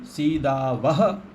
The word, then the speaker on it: सीदावः: सीदामि सीदावह विसर्ग स्पष्ट उच्चारण होना चाहिए।